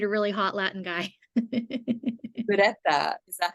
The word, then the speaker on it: Ureta: Ureta.